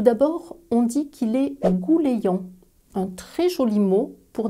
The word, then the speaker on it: gouleyant: Petite pause phonétique, observe comment s'écrit ce mot et écoute comment je le prononce. Gouléant.